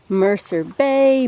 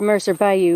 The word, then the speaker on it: Mercer Bayou: recording like this and i kept calling it i kept wanting to call it mercer bay mercer ben but i said mercer bayou enough times to train myself to say it correctly oh i have a